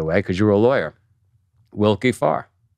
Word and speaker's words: Willkie Farr: Wilkie Farr, right?